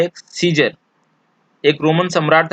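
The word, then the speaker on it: Caesar: था जिसका नाम था सीजर। इसको हम लोग यहाँ पे ए जो है वो साइलेंट है, इसको हम लोग साइसर नहीं पढ़ते हैं, सीजर पढ़ते हैं। ए को प्रोनाउंसिएशन नहीं किया जाता है, यहाँ पे ए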